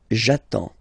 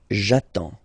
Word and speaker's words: j'attends: So the first form will be j'attends. J'attends. Okay, you get D and S, well basically you don't pronounce them, okay, and then you get only the sound attends, nasal here, en, j'attends, okay.